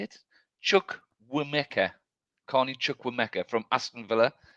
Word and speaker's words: Chukwuemeka: Chukwuemeka.